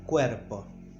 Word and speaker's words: cuerpo: It's cuerpo. Cuerpo, this is a soft r, as very similar to the way that American people pronounce the T in city, or I don't know, r, cuerpo.